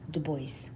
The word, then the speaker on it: Du Bois: to be seeking information on w e b du bois the spelling of his last name is d u space b-o-i-s voice and it's pronounced dubois this tippet the correct spelling of